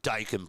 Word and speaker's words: Daikin: It's Daikin Park.